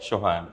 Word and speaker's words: Shohan: Hi, I'm pronouncing your name rightly? Shohan.